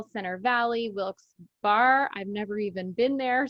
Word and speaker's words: Wilkes-Barre: It's pronounced Wilkes-Barre, Scranton area.